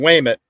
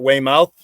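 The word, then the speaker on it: Weymouth: um what's the uh Google Maps they pronounce it way mouth but those that were born and raised there pronounce it Whit w y Mi T way W but the t is sort of silent so it's just like wait it yeah having a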